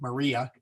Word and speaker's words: Maria: really if we're going to do uh Mary Maria in English we want to kind of do a a little roll in there and say Maria it if you say it fast enough it's